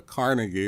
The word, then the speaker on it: Carnegie: can't design it yourself a Carnegie or carnegi whichever way you want to pronounce it I'm from Eastern Kentucky so I say Carnegie uh you know they